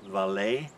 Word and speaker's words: VALE: which is viacom cbs v-a-l-e which i guess is pronounced valet uh that's up more